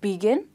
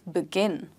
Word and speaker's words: begin: Begin or begin. It's not begin, it's begin.